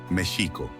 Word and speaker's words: México: mxico adicional a esto en la lengua nahuatl todas las palabras tienen un acento grave un acento en la penúltima sílaba por lo que la pronunciación debe ser Mexico con el acento en la i y un sonido de sh para la x otras palabras con x